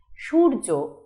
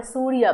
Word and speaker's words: সূর্য: সূর্য আমরা সূর্যা বলি না, আমরা সূর্য বলি, ফলে অন্তস্থ জয় রেফ যথেষ্ট, তার সাথে জফলার ব্যবহার আর হচ্ছে না।